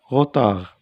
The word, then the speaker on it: retard: Un retard, D.